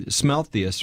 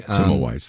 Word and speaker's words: Semmelweis: And you would hear these stories like the guy who, Smelthius, or I don't know how you pronounce his name, but everybody was doing surgery. They were doing Semmelweis. That's it.